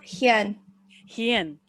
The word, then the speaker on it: Hien: people will be too yeah it's pronounced hyen yes ah okay oh